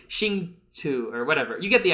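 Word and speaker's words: Hsinchu: So I'm just gonna call it like Sainchu. That's not true though. It's like Xingchu or whatever.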